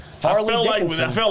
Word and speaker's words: Fairleigh: I actually put Fairly. It's not Fairly. No. Farley Dickinson.